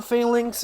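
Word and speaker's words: Falinks: it's called failing uh failings is another pronunciation for it yes I just sometimes call it f linkx yeah I find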